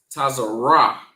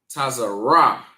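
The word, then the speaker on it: צר: And it is pronounced tazer. Tazar.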